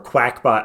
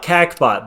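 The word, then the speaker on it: Qakbot: group called cbot um or quackpot I don't know how you want to pronounce it there a q there that is a q oh sorry there's no U there yeah I know I know I know I I wouldn't call it kbot but I've heard it pronounced quackpot quackpot cuz the operation that was uh that that was performed to take this group down was called duck hunt so um I think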